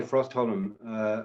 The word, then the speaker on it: Frostholm: C.Y. Frostholm, and that's how he likes his name to be pronounced.